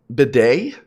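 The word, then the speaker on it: Bede: Let's Wait, bead is pronounced bidet? Really? That's the toilet thing, right? Like the toilet seat thing? It's pronounced bidet? I thought it was just bead. That's kind of bidet, huh?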